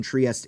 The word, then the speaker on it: Trieste: like oh you know trieste um I actually don't know if in Italian it should be pronounced trieste right but everyone British people call it triest it's very confusing um